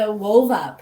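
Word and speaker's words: Whova: with that yeah it reminds me of the wova platform that i was on one event for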